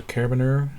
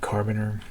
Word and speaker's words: carabiner: the layer 3 is the carabiner I've been pronouncing that wrong and said carbon err and oh and I